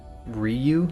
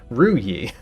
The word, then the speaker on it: Ruyi: Or Ryu is what I said? Ruyi, obviously. I think I've been saying your name wrong for a very long time.